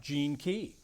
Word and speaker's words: GeneKey: name of the company comes from that's right Jean key that's right GE NE is the way you spell it so and and incidentally I didn't mention